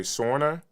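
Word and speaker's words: Sora: I think it's I want to pronounce it the right way. Sorna S O R A uh which is a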